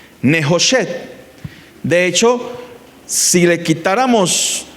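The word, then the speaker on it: נְחֹשֶׁת: Y la palabra bronce en hebreo suena muy similar. Nejoshet.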